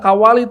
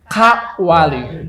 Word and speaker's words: Kawali: Membacanya jangan disekaliguskan Kawali, tapi Kawali.